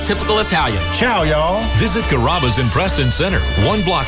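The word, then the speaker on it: Carrabba's: Growing up, people always had a hard time pronouncing my name. People chop it up pretty good, you know. Kaba kamaba kamba. It's a really easy name to pronounce. It's kaba.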